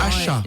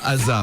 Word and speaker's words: Asa: Asha. Asha? Asha. Asha? Et pas Asa. Ouais, ça s'écrit A-S-A, mais ça se prononce Asha.